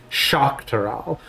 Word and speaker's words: Tural: Tural. Please, feel free to remind me. When we do have definitive pronunciation guides, I'm willing to bend on that.